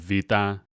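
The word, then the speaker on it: βήτα: And then the B of Vita, a beta in Greek makes a V sound in English, Vita.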